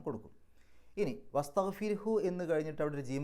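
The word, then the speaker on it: واستغفره: നീട്ടാതെയാണ് അവിടെ കൂട്ടിപ്പാരായണം ചെയ്യുന്ന സമയത്ത് വസ്തഗ്ഫിർഹു എന്ന് മാത്രമേ പറയാവൂ, വസ്തഗ്ഫിർഹു എന്ന് നീട്ടൂല.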